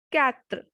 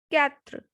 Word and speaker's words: quatre: 4 is quatre, quatre, because QUA has sound ka, ka. So it will be quatre.